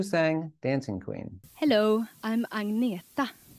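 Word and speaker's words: Agnetha: Hello, I'm Agneta. I know it's very hard for you to pronounce, but you can say Agneta or you can say.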